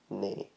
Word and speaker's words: nae: So if you think of it as as a horse, you know, neigh, that sort of thing. Just neigh, you know, N-A-Y. You would spell it N-A-E probably, but if you think of it as N-A-Y, neigh.